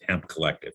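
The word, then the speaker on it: Hemp CO2llective: So we changed our name to Hemp CO2 Lective, which that's the way it's spelled, but it's the way you pronounce it is Hemp Collective.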